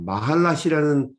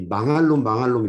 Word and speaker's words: 마할랏: 이 권사님도 이 표제어를 읽으셨는데 이 마할랏이라는 단어 발음이 어려워서 항상 이 망할놈 이렇게 부르셨어요.